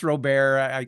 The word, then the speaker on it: Robert: It's pronounced Robert. I honor my French Canadian heritage.